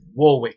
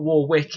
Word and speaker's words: Warwick: is if you get a taxi and say warwick street it's not war wick it's warwick yeah learn how to pronounce certain places is it eggerton or is